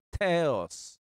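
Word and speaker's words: θεός: seperti kata teologia Teta Jadi kalau theos itu Usahakan harus seperti ada h-nya kalau mengucapkan Ya theos Allah theos karena dia ditulis dengan tha nah Nah untuk huruf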